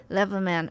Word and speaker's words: Leverman: Speaking of Peter, I'm pronouncing it Leverman. Is that correct? Yes. Leverman.